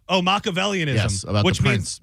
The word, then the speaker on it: Machiavellianism: Machiavellianism. Oh, Machiavellianism.